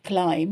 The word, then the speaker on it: climb: So remember, climb, C-L-I-M-B, but we don't pronounce the B in English, okay? B is silent.